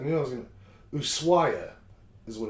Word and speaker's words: Ushuaia: And I keep deleting it, the thing, thinking I won't need to remember how to pronounce it. So I knew I was going to... Ushuaia is what it's called.